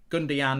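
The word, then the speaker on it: Gündoğan: Is that how you say it? Gundan. Even though it's Gund. Gundian is how you say it.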